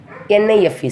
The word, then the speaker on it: knife: Here the spelling of the knife is KNIFE, but simply we are saying NIFE sound. So here we are not pronouncing the letter K.